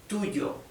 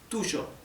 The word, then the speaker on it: tuyo: In most Spanish-speaking countries, the Y and the double L is pronounced y, right? Tuyo. In Argentina or in Uruguay, where I come from, it is tuyo, okay? More like the English SH, okay?